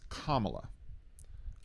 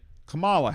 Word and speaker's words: Kamala: Vice President Harris, her first name is Kamla. Kamla Harris. There were people who would say Camala Harris and that was incorrect.